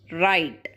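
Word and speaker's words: write: Another tricky one is right, where W is silent here.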